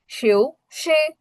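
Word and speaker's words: 休息: To rest, শিউ শি, শিউ শি, শিউ শি, দুটো উচ্চারণ কিন্তু আলাদা, শিউ শি, শিউ শি, অর্থাৎ কি টু রেস্ট।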